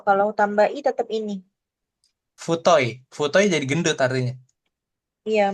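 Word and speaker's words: 太い: Futoi.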